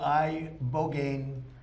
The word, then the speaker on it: ibogaine: In 2024 study from Stanford University, 30 special operation veterans with traumatic brain injuries underwent, it's called ibogaine treatment. Ibogaine. Remember the name. Is that pronounced relatively properly, would you say?